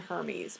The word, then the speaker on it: Hermes: with the last name Hermes but he didn't pronounce it Hermes it was spelled Hermes but he pronounced it like hair meds or something it was it was